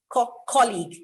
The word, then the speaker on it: colleague: is not colleague colleague the stress is on the first uh sound colleague messiah not messiah there